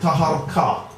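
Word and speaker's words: Taharqa: Now, ruling from Nuri, we get a very great king called Pharaoh Taharko. Some people pronounce it Taharka. Now, the same person's in the Bible where it's spelled Tirharka, same person.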